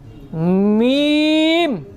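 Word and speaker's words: ميم: স্বাভাবিকভাবে আমরা স্বাভাবিক থাকবো বা, কিন্তু মিম উচ্চারণের সময় স্বাভাবিক থাকবে না, একটু চাপ দিয়ে বলতে হবে, শুকনা জায়গায় আসতে হবে। আগে ছিল ভেজা জায়গায়, এখন আসতে হবে শুকনা জায়গায়। তাকান আমার দিকে। মিম, ঠোঁট একটু চাপ খাবে।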